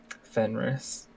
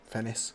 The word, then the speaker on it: Fennis: I'll say, this is Kieran, this is Shira, and this is Fenris. Fennis. Sure, that's not how you say it. Fennis, yes, there's no R in it.